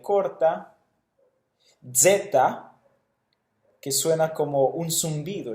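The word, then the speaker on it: ζῆτα: Zeta. Luego tenemos eta, que es como un sonido de una E larga combinada con una I, eta. Luego tenemos zeta, su pronunciación es equivalente a la Z española, zeta.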